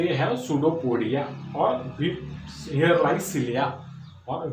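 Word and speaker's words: pseudopodia: बाद में हम देखते हैं they have सुडोपोडिया. Second characteristic, they have सुडोपोडिया. सुडोपोडिया उसका स्पेलिंग PSU सुडोपोडिया.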